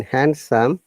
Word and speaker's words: handsome: By the st Oh, in handsome, yeah, d is silent. And similarly, in sandwich, these are some of our wrong. handsome. Yeah, it is not handsome; it's handsome. Similarly, sandwich, not sandwich, sandwich. Yeah, handsome. No d sound in both these two words.